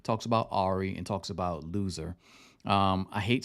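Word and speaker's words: Luzer: he's a loser but his name is spelled l-u-z-e-r uh so it's pronounced loser um but I like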